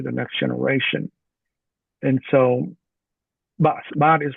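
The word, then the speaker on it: បាក់ស្បាត: What is Okay, baksbat? baksbat. Okay, baksbat Baksbat? is like a broken spirit. Baksbat. So baksbat, I could say phonetically is Baksbat.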